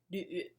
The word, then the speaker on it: Lü: So when you see last names LV, or sometimes spelled like LYU, it's Lü. Yeah, so whenever you see V in Chinese, it's actually a U. So if you're trying to pronounce that sound, you start with U, like in oops. Oops. And then don't move your lips. Push the back of your tongue upward. And it should sound very similar to the combination YU.